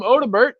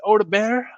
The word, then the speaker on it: Odobert: of people call him odbert I don't think that's correct I don't think the t is pronounced I think it's Oda bear uh but yeah how